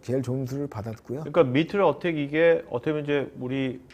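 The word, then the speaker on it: MITRE ATT&CK: 자, 이 미터 어택? 뭐라고 읽습니까? 미트렉 어택입니다. 미트렉 어택.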